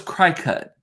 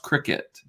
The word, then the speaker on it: Cricut: to the cricut so i thought it was cry-cut and i was like okay so i'm going